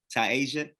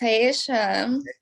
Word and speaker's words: TAI'AYSHA: TAI'AYSHA. Yes, TAI'AYSHA.